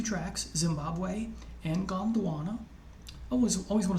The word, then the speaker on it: Gondwana: There are only 2 tracks, Zimbabwe and Gondwana. I always want to say Botswana, but it's Gondwana. In Zimbabwe, Miles and Company performs Turnaround Phase, and Gondwana includes snippets of Ife and Mr.